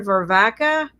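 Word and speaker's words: Varvatos: john how do you say that named john vervaca here john v-a-r-v-a-t-o-s so this is a very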